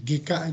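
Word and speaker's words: 外科: Lawan katanya itu GK. Bukan Gaika dibacanya. GK itu artinya penyakit kulit, itu GK ya.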